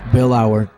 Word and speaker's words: Billauer: How do you say Jesse's last name? Billauer.